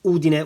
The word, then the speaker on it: Udine: a couple of times already the way to pronounce the brand is Solari and then Udin which is the city or the town where